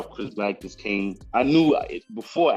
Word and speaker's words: CRSBLK: Like, because you spell it CRSBLK, but it's pronounced Chris Black.